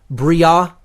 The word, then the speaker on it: Beriah: I would say if I were to give the correct pronunciations as closely as I know them to be, it's Asiya, Yetzirah, Bria, and Atzilut.